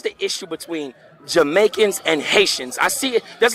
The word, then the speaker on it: Haitian: tell me because I'm Haitian the same I had a good conversation with we were real good friends when she pronounced hate she's like your ear shun me no like no ear shun so what is the